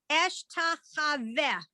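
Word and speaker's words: אשתחוה: Okay, so you actually did it correctly, except you had the accent in the wrong syllable, as they say. So by default, Hebrew is accented on the last syllable. So eshtachaveh.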